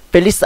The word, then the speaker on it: Feliz: 여기서 Z는 S로 발음이 됩니다. Feliz는 행복한, Ano는 이어, 그리고 Nuevo는 해라는 뜻이죠. 자, 따라해보겠습니다. Feliz Ano Nuevo.